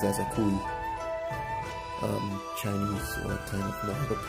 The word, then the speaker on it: ASAKUKI: A lot of people on YouTube, when they unbox this, they say ASAKUKI. It's funny, but it's ASAKUKI.